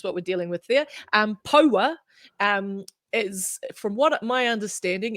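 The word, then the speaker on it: Poua: So yeah, it's almost like power, but Paua is Oh, okay. how we're saying it.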